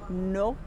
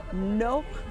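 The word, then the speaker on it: נוקטורנו: And it's pronounced Nocturno. Nocturno.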